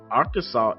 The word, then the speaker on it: Arkansas: Although incorrectly pronouncing the state's name with the hard S at the end is not strictly unlawful or penalized, Arkansas is meant to be pronounced Arkansas.